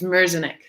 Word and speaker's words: Merzenich: Michael, and please pronounce his last name for me. It's Merzenich. Merzenich.